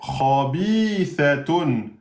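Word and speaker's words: خبيثة: Donc, ça fait khabithatun. Khabithatun. La lettre sa, attention, hein, vous devez sortir le bout de la langue. Sinon, vous allez dire ça, et c'est faux.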